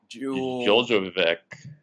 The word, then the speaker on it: Djulbegovic: Djulbegovic. Yeah. Djulbegovic. There's a G there. Is the D silent? I'm guessing the D is silent.